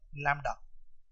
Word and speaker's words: lambda: Wavelength is represented by the Greek term lambda. Spelling is LAMBDA where B is silent.